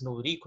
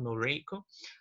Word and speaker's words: Noriko: Noriko, both pronunciations are correct. Ambas as pronúncias estão corretas. Noriko, Noriko.